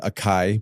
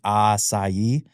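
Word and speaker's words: açaí: before when they came they were calling it a Kai probably at first right I mean people still do that uh we we're here to try to help people learn the correct pronunciation aai um so put it on my menu and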